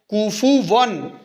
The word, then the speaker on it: كُفُوًا: کفون، کفون احد، کفون نہیں ہے کوفون، کاف کا الگ ہے تلفظ، فا کا الگ ہے، واو کا الگ ہے.